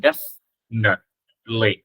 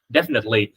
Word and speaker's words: definitely: Cái từ definitely á, mọi người có thể đọc thành definitely, ba âm, definitely. Cái chữ net mọi người không có đọc chữ thờ đâu, definitely no.